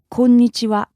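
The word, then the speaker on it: こんにちは: Usually it's just very, very flat. Konnichiwa. Konnichiwa. No intonation.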